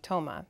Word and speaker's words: Tamara: name for example um so my name Tamara is uh not the name that my family and closest friends call me they call me Tomah okay and so I had Americanized the pronunciation of my first name and dropped my last